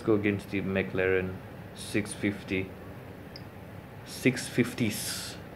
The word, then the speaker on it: 650S: 650s, that's how you should pronounce that.